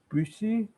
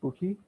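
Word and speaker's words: Büchi: basically bookie objectives so the original german pronunciation is bushy but that's too hard so everyone just calls it bookie so the idea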